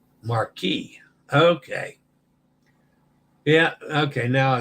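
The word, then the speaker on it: Marchi: oh Mark oh Marquis the chi has the k sound Marquee okay yeah okay now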